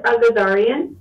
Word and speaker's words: Agazarian: Sure, it's Agazarian. Agazarian. Okay, I would have been very close to that. You read it just like it sounds, or whatever.